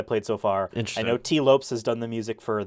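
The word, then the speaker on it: Tee Lopes: uh so U Tes that is how he pronounces his name I heard him pronounce it so I'm like yes it's not you know T Lopez um it's t Lopes anyway composer of Sonic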